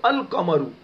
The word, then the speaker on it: القمر: تو اب لام کا تلفظ کریں گے القمرو.